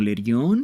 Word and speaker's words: Lerion: Ok, tendría que pronunciarlo como Lerion.